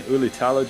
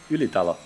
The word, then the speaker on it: Ylitalo: But we see here yet again Ylitalo just. Why am I saying his name in English? I know how to pronounce his name. Ylitalo.